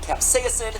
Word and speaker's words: capsaicin: look so and delicious i'm pronouncing it capsaicin because that's right we don't know so much even though i have never once heard anyone in my life pronounce it that way so if you don't like it take it up with both myriam and or webster when you eat a